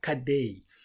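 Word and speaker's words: cadê: Let us focus on Kad. The first syllable is like car and then the last syllable like day.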